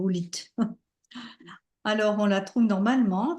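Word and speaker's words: howlite: dans l'apaisement là alors ça s'écrit OV lit hein mais c'est Hite alors on la trouve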